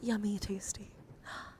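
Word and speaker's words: YumiTasty: All right, Yumi, we're going to spell or is it yummy? Tasty. Yummy. We're going to spell your name together. I'm going to put you here. Your name is spelled Y u M I T A S T Y. Yummy tasty.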